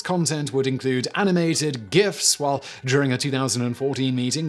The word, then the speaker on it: GIF: it a long time many backers of the hard g pronunciation like web designer dan cederholm focus on the pronunciation of the acronym's component words with cedarholm tweeting in 2013 graphics interchange format graphics not graphics hashtag gif hard g hashtag who cares not